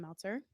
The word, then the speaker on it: Meltzer: Before we get into it, if you don't really know me much, hi, I'm Meltzer. Rhymes with seltzer.